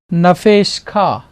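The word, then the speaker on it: נַפְשְׁךָ: Sheen, Sheva is silent, Shiva जो silent है यहाँ पे, and then final form of kaf. और फिर काफ की final form So nafesh kha.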